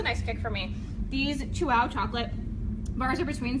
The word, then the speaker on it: Chuao: Chuao. Chuao. Wow. Chuao. Chew it and wow.